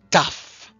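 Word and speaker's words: ταυ: It's pronounced taf. Taf. That's actually the name of the gramma of the letter, and it's the same as the letter T. It makes a t sound.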